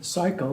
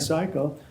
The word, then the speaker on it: Siakel: I introduce our speaker cycle that's how you say it again cycle we have a little